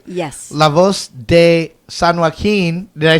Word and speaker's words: San Joaquin: La Voz de San Joaquin.